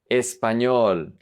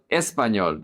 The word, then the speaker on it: español: Español, español. Attention with the emphasis here. It's not español, it's español. The emphasis is on the ñol syllable.